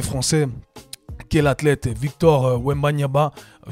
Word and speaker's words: Wembanyama: Deuxième news de la semaine concerne Wemby, le prodige de NBA français, qui est l'athlète Victor Wembanyama. Wembanyama. Voilà, je crois que j'ai mal prononcé son nom.